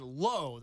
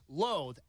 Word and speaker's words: Loathe: spell that quick? Yes, I can. Loathe. I'll do it spelling bee style. Loathe. L O A T H E.